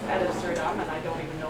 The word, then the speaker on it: ad absurdum: Well, have you not read the legal definition ab absurdum? No, you're not even saying it right. It's ad absurdum, and I don't even know what you're talking about.